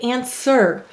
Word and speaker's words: answer: we'll underline the er now do we say answer no we say answer in fact this is a silent letter we don't know why